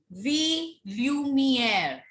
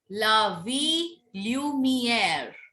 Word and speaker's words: la lumière: Next word, la lumière. Double L is silent. It is la lumière.